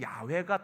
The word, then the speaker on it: 야훼: 표 기를 합니다 yhwh 근데 히브리어로는 육해와 했는데 유해화해 야훼 유해화해가 더 가까울 거라는 거예요 그 자음자를 그대로 읽으면이 회화에 야훼 여야 해 그래서 여호와가 아니라 사실은 야외가 더 맞을 것이다 이제 오늘날에 이제 와서는